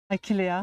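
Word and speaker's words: Achillea: Mais euh Ouais, dans les noms latins, le H, on les prononce pas. Puis les les E non plus. Fait que c'est une Ailéa. Aquiléa Ouais, c'est son vrai nom.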